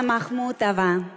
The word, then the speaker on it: Махмутова: а вы композитор Мариана Махмутова Махмутова специально для таких как ты на двери табличка большое красное ударение над буквой а а слово Махмут древний